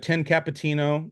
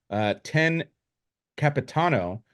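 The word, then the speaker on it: Io Capitano: But we have 10 Capitino. That's not even how you pronounce it. 10 Capitano.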